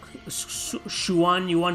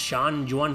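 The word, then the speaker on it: Xuan-Yuan: but i play the shuwan yuan sword i think it's pronounced sean juan sword i have one here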